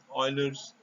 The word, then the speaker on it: Euler: number is provided by euler's representation note that you should pronounce this as euler euler's a famous mathematician